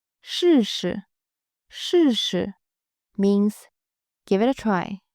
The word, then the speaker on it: 试试: I will give you the meaning first, then we will work on the pronunciation. 试试，试试 means give it a try or try it out.